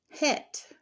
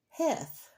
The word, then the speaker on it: Heth: And this section is called Het. Now, we look at that word, Heth, and it looks like Heth, like the old English word or Middle English word for had or have.